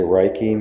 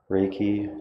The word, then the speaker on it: Reiki: really cares about the local community she's a Reiki master I did pronounce that right very close I got one